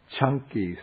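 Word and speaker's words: Caṅkī: This is called the Chanki Sutta. The C in Pali is pronounced like CH, so it's like chunky peanut butter.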